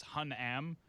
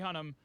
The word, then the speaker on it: Hunnam: write last night okay i didn't know if it was hun am like like you had to stress the am part but hun him charlie hunnam wants to be the